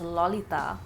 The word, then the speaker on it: Lalita: So she's about 13, and her name is Lalita, which, by the way, in Bengali is pronounced as Lolita.